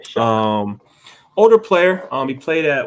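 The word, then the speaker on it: Shough: That's how you say it? Yeah, Shuck.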